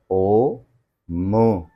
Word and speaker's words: ओम्: को आप ध्यान देंगे तो यह बेसिक तीन बेसिक नाद से बना है जो कि है अ ओ म अ ओ मु इन तीन साउंड्स को मिला के जब हम उच्चारण करते हैं तो ओम की धनी बनती है आपको इस इसको इस